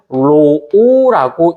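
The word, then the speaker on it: ρ: 였을 때 였을 때 여기서 먼저 값을이 저항이라는 애는 이런 요거 비저항의 단면적분의 도선 길이로 구하는데 얘 이름이 뭐냐면 로오라고 읽고 비저항이라는 말을 씁니다.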